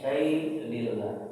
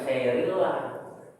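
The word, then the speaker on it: شيء لله: Lillah ya Ramadan lillah ya Ramadan bilbur walfranillah ya Ramadanillah ya Ramadanillah ya Ramadan wal tulisannya saaiun lillah dibacanya sailillah bukan sirillah saya pernah dengar di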